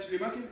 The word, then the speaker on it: Schleiermacher: No es Schumacher. No, Schleier. Macher. Chubaca. Parecido.